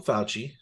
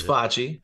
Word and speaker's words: Facci: I will say this make sure you don't call them faucially it's foxy f-a-c-c-i not fa youth so if you call them fauci on accident because obviously